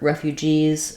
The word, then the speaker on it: refugees: Also for refugees, the plural is a Z sound because refugee ends in an E in a vowel sound, and so letter S will say the Z sound.